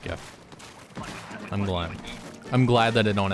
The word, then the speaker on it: GIF: GIF sounds really dumb. It is not a peanut butter. It is not spelled with a J.